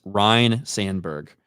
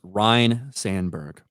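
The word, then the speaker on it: Ryne Sandberg: this is correcty webos it's Ryan not Ryan yes Ryan Sandberg I don't really know I've never heard that name before or since but yes it's Ryan Sandberg but when you say it fast it just kind of sounds like Ryan Sandberg so it doesn't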